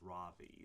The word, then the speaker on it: Rawe: Um, it is pronounced Ravi. So the W is pronounced like a V.